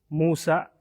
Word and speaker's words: Musa: Pero ang tunay niyang pangalan, tamang pag-pronounce, pagbigkas ay Musa alayhi salam.